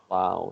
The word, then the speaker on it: Lowe: Well, he pronounces it Rob Lowe, and Brandon Lau pronounces Lau, so I don't think so.